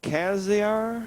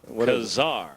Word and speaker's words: Kazar: Kaziar? No. Oh. Got it down now. Kazar. Kazar.